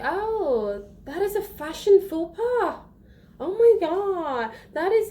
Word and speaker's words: faux pas: Well, the faux is not FAUX. It is feu. Oui? And then the pas is pas, not pass.